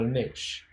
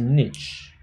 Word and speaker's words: niche: First off, I pronounce this as a niche. Okay. And as you have heard, hopefully, in the film that you have just watched, the narrator pronounced it as a niche. So I just mispronounced. No, it's not. Actually, both of them regarded as a correct form of a pronunciation. But in these days, it appears that the niche pronunciation of the niche looks like it's gaining more popularity.